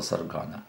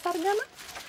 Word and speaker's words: сарган: уже готова пришло время магического саргана или саргана Как правильно ударение на второе а сейчас мы еще